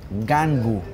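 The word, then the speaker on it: Ngangu: Mi nombre completo, Gangu. Gangu. Gangu, se escribe N-G-A-N-G-U.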